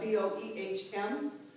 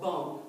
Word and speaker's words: Boehm: That's spelled B-O-E-H-M, and sometimes called Boehm, and sometimes called Bohm. Depends on where you are, what part of the world you're in.